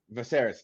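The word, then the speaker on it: Viserys: V uh how do you say his name vaser thank you what he says and realize he's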